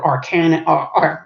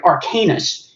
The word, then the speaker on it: Arcanus: in this place called arcan I'm sorry arcanus is how it's first pronounced because the Wizards War